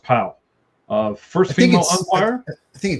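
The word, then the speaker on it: Pawol: P-A-W-O-L, yes. But I believe it's still pronounced Powell.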